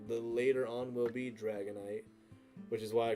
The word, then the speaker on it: Dragonite: later on will be Dragonite, which is why I called it night night because it'll make you go night night. And also it's spelled nit like the end of Dragon Knight.